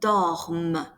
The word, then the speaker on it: dorment: Then, nous dormons, vous dormez, ils dorment. The ENT is mute, but what you are pronouncing is the M.